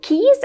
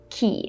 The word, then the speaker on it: quay: And looking at this word, it's easy to see how many people say Quay instead of key.